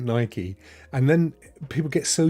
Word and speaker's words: Nike: So, but it may just be one of those things, like some people say Nike, but it's definitely Nike. It's 100% Nike.